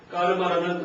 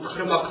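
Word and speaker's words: कर्म: 보통 카르마 하는데 그렇게 발음하면 안 된다는 얘기했죠. 카르마 하면은 이건 줄 알아요. K인 줄 알아요. 카르마 하면은요. 그러니까 이제 이거는 K는 영어 발음 생각하면 절대 안 됩니다. 그냥 까 발음이에요. 까 발음이에요.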